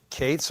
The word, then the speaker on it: Katz: terms of Larry Lawrence Kates or Katz K A TZ but he pronounces it Kates.